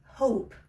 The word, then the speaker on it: hope: Esta E es conocida como la silent E. Silent E porque no se pronuncia. Cuando nos encontramos una E al final de una palabra, esa E no tiene sonido.